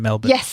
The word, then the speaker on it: Melbourne: And she was on a TWiV, actually, from Melbourne. Yes. They told me that's how you pronounce it, Melbourne.